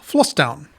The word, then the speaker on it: Vlastuin: request comes from Marcel flown and yes my American accent aside that's actually how you pronounce it in Dutch the V sounds more like an f and a is more